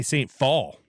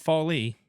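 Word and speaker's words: St. Phalle: Maddie Day Saint fall, not folly. Fall. Yeah, it's fall. Like the uh season. Yeah. The E silent.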